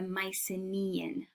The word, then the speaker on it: Mycenaean: And so when we speak of the culture, it's the Mycenaean.